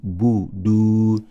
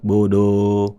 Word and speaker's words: فَلْيَعْبُدُوا: Please refrain from adding O into the sound of Dhamma. فَلْيَعْبُدُوا budu, not bodo, bodo, whatever.